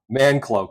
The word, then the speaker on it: Manclo: I even asked how to pronounce his name, and Manclo.